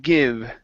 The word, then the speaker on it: give: Next up is the word give. Okay, so instead of saying give its best, okay, so it's give its. Okay, so he wanted to give it his best shot. Give, the E is silent.